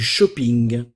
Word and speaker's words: shopping: ville je fais du shopping hockey ici nous allons prononcer un petit peu comme en anglais hing hing je fais du shopping le shopping faire des